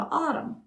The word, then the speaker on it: AUDM: And they said, oh yeah, I'm caught up on all my news because I listened to Autumn. How do you spell that?